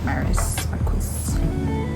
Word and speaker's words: Maris Marquis: I like that it rhymes with my name, Maris Marquis.